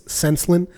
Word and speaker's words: Senslyn: It's Senslin. It's with an S. It's spelled Senslyn.